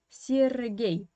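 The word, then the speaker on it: Сергей: Here you have two ye, but the first one is pronounced as I, sir, and the second one is pronounced as ye. Why? Of course, it is all about Russian stress. The first ye is an unstressed position without stress. That's why you pronounce it is this as I, Sergei, yeah?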